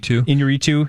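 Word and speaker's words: Iñárritu: As I believe that's how you pronounce his last name. Inarritu.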